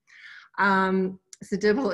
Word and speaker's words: Zedibel: my name and wondered, how do you say that last name? Zedibel is the way that you say it.